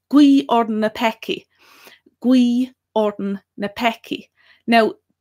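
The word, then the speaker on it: guígh orainn na peacaigh: So pray for us sinners is gui orden na peki.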